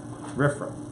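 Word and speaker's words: RFRA: Religious Freedom Restoration Act let me give you the acronym rifra and pronounce riff raff the Religious Freedom Restoration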